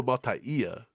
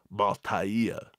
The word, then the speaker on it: Mataia: I think it's Ia is how he pronounces it. Sua Mataia.